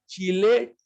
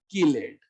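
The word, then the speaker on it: chelate: Chemistry, chemistry, चैल्कोजन, कैल्कोजन, चिलेट, किलेट। चिलेट ring जो पढ़ते हो, चिलेट नहीं होता, किलेट होता।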